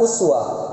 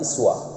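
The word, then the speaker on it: أسوة: kajian ilmu qiraat, bahwa kalimat uswah bisa dibaca dengan dua cara baca. Yang pertama bisa dibaca dengan kalimat uswah, yang kedua bisa dibaca juga dengan kalimat iswah.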